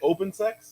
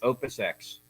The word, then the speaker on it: Opus X: Did you say open sex? Opus X.